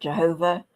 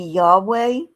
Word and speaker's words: Yahweh: pronounce it, but um the Jehovah's Witnesses pronounce it Jehovah, which is not the way you pronounce it, by the way, because um Hebrew does not have the J sound. And I don't think they have the V sound either. So, it's maybe Yahweh, may maybe Yo.